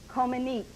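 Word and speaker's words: Comăneci: Comaneci. That's right, Nadia Comaneci. And you even pronounced it perfectly.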